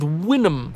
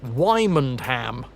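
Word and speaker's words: Wymondham: Abra Winham's going with Winnham for Wyundam. This is where it's a double bluff and it is just pronounced Wyman ham except the the stress is on the mond.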